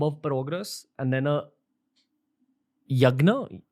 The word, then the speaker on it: Yagya: So is it fair to say that a havan is a much larger bomb of progress, and then a yagna, how do you say it? Yagya.